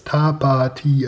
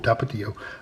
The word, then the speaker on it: Tapatío: of Mexico that's Tapatio um how do you pronounce tapao it's tapao tapao then about us and here's how to cook